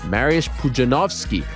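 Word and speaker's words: Mariusz Pudzianowski: i've taught myself that we've been saying it wrong for the past uh two decades marius pujanowski the w is a v in polish mariusz pujanowski legend ak marriage puzzinowski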